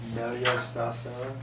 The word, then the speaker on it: Meglio Stasera: And it's, how do you pronounce this, Dan? Meglio Stasera.